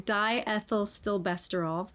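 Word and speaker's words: diethylstilbestrol: So they sold DES, I'm going to get this wrong, diethyl stilbestrol. Correct me if that's incorrect. I think that was a really good pronunciation.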